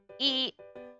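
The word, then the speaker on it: い: one two one two e and remember this is actually i but it's pronounced e so that's why i'm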